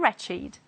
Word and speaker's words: wretched: If they are adjectives, they do not follow the rule and they will be pronounced with id, it. Let's read it as adjectives. Aged, blessed, crooked, dogged, learned, naked, ragged, wicked, and wretched.